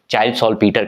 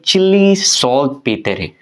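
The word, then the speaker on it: Chile saltpetre: क्या प्रोनाउंसिएशन, हम लोग जो इंडियंस हैं वो चाइल्ड सॉल्टपीटर कह देंगे, लेकिन चिली सॉल्ट पेटरे, तो ये एक नाम याद रखना।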